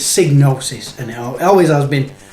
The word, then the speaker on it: Psygnosis: anyway it is so psygnosis that is how i would say it that's how i've always said it and it was only recently like i said i've never really pronounced the other way which is diagnosis now diagnosis probably would make sense if you split it psy the sci psycho and you know i believe gnosis with silent g is another word meaning something else so in a way